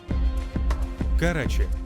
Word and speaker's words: Karachi: Karachi (acento en la segunda sílaba) es considerado el centro portuario, cultural, financiero y político más grande del país.